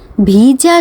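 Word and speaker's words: 비자: আজকে আমি আলোচনা করব বা আপনাদেরকে একটু জানাবো যে বিষয়টা সেই হচ্ছে দক্ষিণ কোরিয়াতে ভিজা সম্পর্কে। ভিজা কোরিয়ান উচ্চারণ ভিজা। আমাদের ইংরেজিতে ভিসা।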